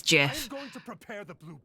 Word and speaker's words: GIF: world it's an acronym acronyms have their own independent pronunciation from the words they represent GIF is correct yeah yeah how I feel about it but the Creator says it's Jiff if you aren't at